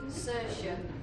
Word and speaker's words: Saoirse: So, you're probably wondering how to pronounce the name. It's actually Saoirse.